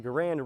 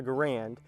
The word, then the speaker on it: Garand: catch myself here because the french-canadian designer garand didn't really mind that people mispronounce his name but now that I've